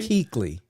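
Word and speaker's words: Kuechly: new indues this year kley how do you say it I think it's Keeley Luke Keeley Keeley yes maybe it's always the U in there that throws me I try to I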